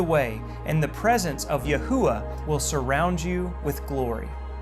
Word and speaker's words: Yahuah: Scriptures and translated into the English equivalent of YHUH, spoken by many as Yahuah, a pronunciation preserved in